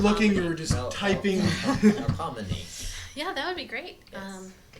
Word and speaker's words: Melpomene: Like I feel there's like an F, even though there's no F in it. There's like an F sound. Whoa, Tiff Crab. Melpomene. No. Spell it. Melpomene. Melpomene. Yeah. No F at all.